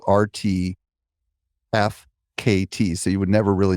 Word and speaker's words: RTFKT: They acquire an NFT brand called RTFKT, but it's spelled R-T-F-K-T.